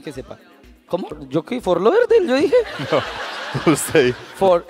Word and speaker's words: Fort Lauderdale: ¿Fort Lauderdale? Yo dije. No, usted. Fort en. Ese sí pronunció. Ese sí pronunció bien. Fordale. Se pronuncia rápido, ya pronunció bien.